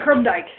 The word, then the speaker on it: Krumdieck: So, sitting here with Krumdieck, and do I have the right pronunciation for that? We say Krumdieck. Krumdieck, okay, thank you.